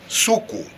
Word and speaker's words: suku: and malayan languages and this word is is pronounced suku in both in malay and in finnish and